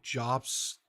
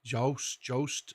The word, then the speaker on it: Jobst: Mutahar, and if I say this other creator's name wrong, I apologize, but I believe it's Carl Jost, Jobst, J-O-B-S-T, Carl Jost.